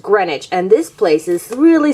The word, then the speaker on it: Greenwich: we're in greenwich village even though it looks like green witch green witch it's actually just pronounced greenwich and this place is